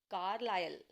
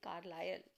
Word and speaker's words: Carlisle: इसको प्रोनाउंस कैसे करते हैं? ISLE, इसको प्रोनाउंस करते हैं आयल, तो कार्लायल, तो दिस विल बी कार्लायल।